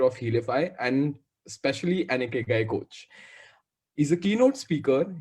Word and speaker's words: Ikigai: Yeah, how do you pronounce it, Deepak? Awesome. So it's very simple. It's Ikigai.